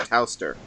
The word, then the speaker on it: Towster: Toaster hasn't given me any guidance, so might as well. Did I pronounce that right? That's one of the pronunciations. I pronounce it Towster.